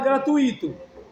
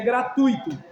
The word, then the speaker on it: gratuito: Tem gente que fala gratuito. Aí seria hiato. Mas a pronúncia é gratuito.